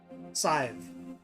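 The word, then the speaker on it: Sadhbh: And it is pronounced with a long I. Scythe.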